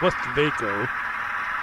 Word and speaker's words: West Vaco: Like it says Vaco, it's West Vaco. It's the correct pronunciation.